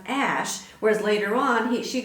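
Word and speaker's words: Æ: is just x and the a e is pronounced ash whereas later on he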